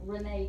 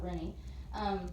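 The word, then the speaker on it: Rinne: So then the next one is the Rene test, or some people pronounce it Rennie.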